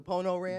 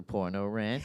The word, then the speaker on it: Pono Ranch: Allstar uh concert the Pono Ranch the Pono Ranch we had that Allstar women and I got on the mic and said it wrong I said the poro Ranch and uh I'll never